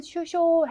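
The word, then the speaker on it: 首相: 근데 이번에는 네, 기억하셔야 될 게 발음이 쇼라는 거. 그래서 발음은 슈쇼 하셔야 되는 단어입니다.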